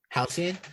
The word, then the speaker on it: Halcyon: Yeah, Halcyon.